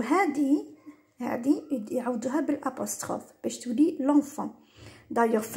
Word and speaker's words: l'enfant: واش يديروا ينحو هذه يعوضوها بالابوستروف باش تولي لونفون. دايوغ في النطق كي نقولوا لو انفون شغل تجي صعيبه، مي كي نقولوا لونفون تجي سهله.